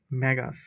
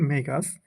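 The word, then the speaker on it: magus: What is the plural form of ম্যাগাস, অর্থাৎ এটা বা সঠিক উচ্চারণ মেগাস।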